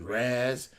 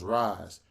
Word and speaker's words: Raas: some people call me razz some people call me all type stuff the name is pronounced rise i'm a big comic